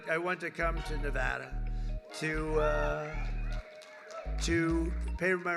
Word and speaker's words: Nevada: heard of it and don't ever mispronounce the name you're not allowed to do that show you mispronounce the name you got a problem you ever see somebody when they say it's Nevada Nevada no they're they're in deep